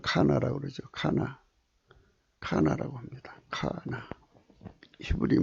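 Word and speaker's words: קנה: 지구를 창안하시고 지구를 조성하신 걸 카나라고 그러죠. 카나라고 합니다. 카나. 히브리 말로 카나라고. 여기 있죠. 카나. 이게 조화예요. 조화. 카나. 이 흐자는 대부분 발음 안 해요. 카나. 발음도 카나입니다.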